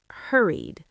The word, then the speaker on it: hurried: First, hurried. Hurried. That's the id ending. Hurried. You hear that extra syllable, hurry-id.